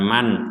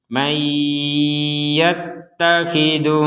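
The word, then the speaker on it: مَنْ يَتَّخِذُ: Kalau digabungkan maka nun sukun yang barusan jelas kita masukkan ke ya, sehingga terbacanya bukan man lagi tapi dibaca dengan may disertai dengungan. Mayyattakhidhu min dunillahi andada.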